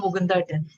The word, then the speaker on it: Mukundan: Soliloquy by, I want to make sure I pronounce the name right, Mukundan, right? Yes. Mukundan. We call him Mukundan.